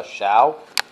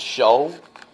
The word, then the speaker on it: Shou: so this is uh xiao uh show sorry this is show that's how it's pronounced um it's a live